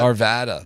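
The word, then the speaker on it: Arvada: How do you pronounce that? Arvvada.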